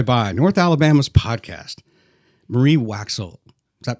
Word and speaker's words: Waxel: Marie Waxel. Is that pronounced correctly, Waxel?